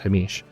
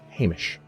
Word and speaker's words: Hamish: They said this this particular spy's name is pronounced Hamish, not Hamish. I was not aware of that, but evidently it's Hamish.